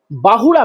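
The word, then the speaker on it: ବାହୁଡ଼ା: उसको बोलते हैं बाहुड़ा बाहुड़ा मतलब रिटर्न जो लौटते हैं हिंदी में लोग बोलते हैं बहुदा बहुदा अब बहुदा नहीं होता है बाहुड़ा वो लौट के आ रहे हैं।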